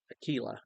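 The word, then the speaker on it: Aquila: certain Jew named Aquilla Aila actually is how you pronounce that name Aila a native of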